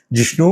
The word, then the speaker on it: जिष्णु: विष्णु शर्मा ही है, मगर वो त्रिपुरा में उनका नाम जिष्णु है, तो उसका भी आप चिंता मत करो, वो विष्णु ही है। जिष्णु त्रिपुरा भाषा में उनका प्रोनाउंसिएशन होता है।